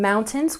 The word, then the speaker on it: mountains: And mountains, we stress the first syllable. Mountains. Mountains. Nice work.